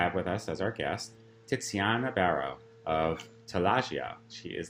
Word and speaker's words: Tiziana: So it's like Tiziana, pizza, pazza, piazza.